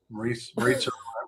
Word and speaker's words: Maritza: I wasn't aware of it until I got this thing from Maritza rhymes with Pizza Giorgio.